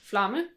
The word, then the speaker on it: Flamme: You just add 1 letter, but flame in Danish is Flamme. Flamme. Yes, so another M, and then you sort of like pronounce the E at the end.